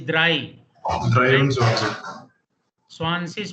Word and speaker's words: drei: Not three, it is drei.